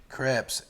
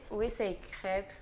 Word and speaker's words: crêpes: We're making authentic French crepes. Am I saying that right, Claire? No, we say crêpes actually, but you're fine.